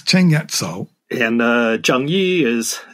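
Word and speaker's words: 鄭一嫂: You use the Cantonese pronunciation in your book. You don't call her Zheng Yi Cao. No, she's Cheng Yat Cao.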